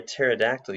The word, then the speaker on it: pterodactyl: can't she hear a pterodactyl use the bathroom cuz the P is silent yellow background this very